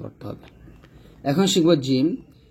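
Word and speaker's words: ج: এখন শিখব জিম। জিহ্বার মধ্যখান তার বরাবর উপরতলার সঙ্গে লাগিয়ে শক্ত এবং মজবুত আওয়াজে জিম উচ্চারণ করতে হয়।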